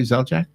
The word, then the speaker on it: Zeljak: did I say your last name correctly, Zeljak? Yeah, exactly Say it how right. it's spelled.